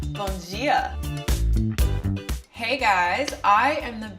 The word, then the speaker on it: Bom Dia: You pronounce the D in dia like a J, so it's Bom Dia.